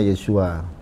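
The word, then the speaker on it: ישוע: berbeda lagi kalau dengan ini Yod Sin faau Ain ini dibaca Yod Sin Fa Ain dibacanya yesua Nah kalau orang judaism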